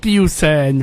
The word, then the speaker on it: Iquioussen: Hassan alors comment on prononce votre nom ? Pardon ? Husen. Usen.